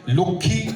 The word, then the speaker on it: লক্ষ্মী: হিন্দি বা সংস্কৃতে উচ্চারণটা করলে লক্ষ্মী, লক্ষ্মী। খেয়াল করো, লক্ষ্মী সুন্দর, কিন্তু তিনটে বর্ণ শুনতে পাওয়া যাচ্ছে। বাংলায় অদ্ভুতভাবে একটা লক্ষ্মী হয়ে গেছে। এটা কিন্তু বাংলার উচ্চারণে বৈশিষ্ট্য।